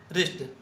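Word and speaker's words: wrist: 85 which letter is silent in wrinkle, rake, रिस्ट। इस तीनों में क्या साइलेंट है? तीनों में डब्लू साइलेंट है। जब भी आर से पहले डब्लू लिखते हैं तो डब्लू साइलेंट होता है।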